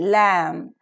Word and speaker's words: lamb: b-o-m-b bomb c-o-m-b comb lmb lamb and debt debt B silent here very nice look at